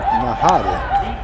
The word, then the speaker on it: Najar: And I think it's Adrian Nahara. Adrian Nahara. Nahara, I believe. The J's are always pronounced. That's right. So, Nahara.